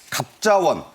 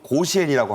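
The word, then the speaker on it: 甲子園: 야구 팀들의 왕중왕을 가리는 갑자원 우리와 발음이 그렇고요 일본말로는 고시엔이라고 합니다 그 역사가 1세기를 훌쩍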